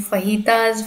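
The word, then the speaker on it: fajita: फिर मैं बनाने वाली हूँ फहीताज। फहीताज ना basically stir fried bell peppers होती हैं और अनियंस, तो उनको मैक्सिकन लोग फहीताज बोलते हैं। स्पेलिंग तो FAJI होती है, but they pronounce it एज फहीता।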